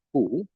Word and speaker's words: Q: Dan sini akan saya berikan dulu perubahannya itu pada huruf J ya, itu dibacanya adalah yot, lalu pada huruf Q itu dibacanya ku, lalu huruf V ya, dibacanya vau, lalu ada